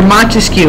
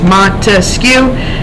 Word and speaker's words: Montesquieu: All right, remember Montesquieu, 3 syllables, Montesquieu, 3 branches of government.